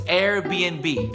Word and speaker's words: Airbnb: it is Google Google a lot of people get confused when they see that little end between the B's n actually means and so it's Airbnb Airbnb I believe is notable